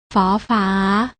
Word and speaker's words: ฝ: ไร ใช่ แล้ว ค่ะ พยัญชนะ ตัว แรก อ่าน ออก เสียง ฝอ อ่าน ว่า ฟอ ฝา ส่วน พยัญชนะ ตัว ที่ 2 อ่าน ออก เสียง ฟอ อ่าน ว่า ฟอ ฟัน สังเกต ความ ต่าง ได้